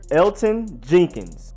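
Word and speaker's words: Elgton Jenkins: hairs been their center Elton Jenkins yes the G is silent that is crazy I never would have guessed I was over here like Elkton LD told it was crazy I was lost but in fact is Elton you just ignore the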